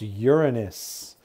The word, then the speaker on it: Uranus: and let's get started introduction uranus it is pronounced uranus it's from the greek word meaning sky in